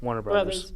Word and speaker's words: Warner Bros.: Warner Brothers.